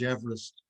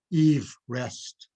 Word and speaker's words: Everest: But also, he pronounced his name Eve Rest as the correct pronunciation of his name. And he would have been even less impressed with the mispronunciation of his name as Everest.